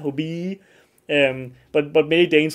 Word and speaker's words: hobbii: a while ago and a lot of Danes, they will just say hobby because and not say it like hobie because there's two e, right? So, you need to like drag it out like that, hobie.